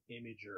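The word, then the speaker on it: Imgur: say it I I I read a post recently that said imager it is imager it is technically maybe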